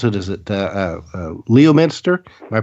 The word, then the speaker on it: Leominster: Is it Leominster? Am I pronouncing that correctly? Okay. Yeah. Leominster.